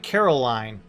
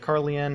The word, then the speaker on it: Carolyn: her about that carolyn she says it's pronounced like caroline so like i have